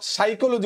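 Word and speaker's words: psychology: সাইকোলজি so simply আমরা সাইকোলজি উচ্চারণ কি সাইকোলজি কিন্তু প্রথমে পি আছে বানানটা মনে রাখবো পিশি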